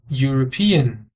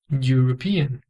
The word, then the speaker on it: European: um país europeu pronounced European pronunciado European mais uma vez o mesmo som o euu na palavra